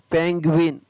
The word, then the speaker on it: penguin: मध्य में GUI हो तो उसमें GUI का उच्चारण है वो साधारणतः ग्वी होता है। क्या होता है, ग्वी। PENGUIN, पेंगुइन।